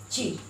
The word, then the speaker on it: चीर: चिर का मतलब हो गया बहुत या फिर दीर्घ। और यहाँ देखिए च में बड़ी र, चीर। चीर खींच कर बोल रही चीर, इसका मतलब हो जाएगा कपड़ा।